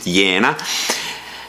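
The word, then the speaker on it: Jena: in the town of Vienna I pronounce it as I think Germans would pronounce it yena and and they started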